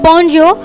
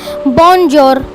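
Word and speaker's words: bonjour: यहाँ पे आप देख रहे होंगे फॉर्मल के नीचे लिखा होगा बॉन्जियो। हम अगर उसे इंग्लिश में पढ़ेंगे तो वो हम रीड करेंगे तो वो आएगा बॉन्जोर, बट फ्रेंच में इसकी प्रोनाउंसिएशन होगी बॉन्जो।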